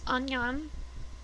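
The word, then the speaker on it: 안녕: how to say it i'm pretty sure it's onion with a really complicated expression on her face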